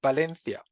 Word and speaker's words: Valencia: beginning of a word, so there's always b, so it's Valencia.